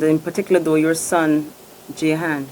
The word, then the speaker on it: Jahan: about you, and in particular, though, your son, Jahan. Jahan, we call him, right? Call him. How do you pronounce his name?